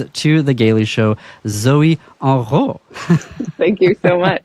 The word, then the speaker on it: Henrot: And so I was, that's the French pronunciation, correct? Zoe Henrot. Yeah. What would the American pronunciation be for folks? Usually I get Zoe Henrot, if people aren't paying attention. My last name is not French, even though it's very French to hear that pronounced with a French accent.